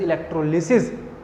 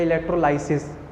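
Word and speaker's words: electrolysis: When इलेक्ट्रिक energy supplied to break down the chemicals, this process is known as इलेक्ट्रोलिसिस या इलेक्ट्रोलाइसिस। अलग अलग school में अलग अलग प्रोनाउंसिएशन, ठीक है।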